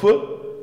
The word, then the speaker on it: fait: à vous d'accord ici on on prononce feu mais on écrit fait et là on dit